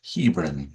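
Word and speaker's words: Hebron: and includes the pronunciation of uh Hebbran, Connecticut as Hebin for future reference.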